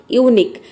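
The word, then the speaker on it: unique: जैसे कि देखिए आप एग्जाम्पल है यूनिक। यूनिक में आप देख रहे हैं कि लास्ट में आया है क्यू यू, तो यहाँ पे देखिए यू को हम यू प्रोनाउंस करेंगे।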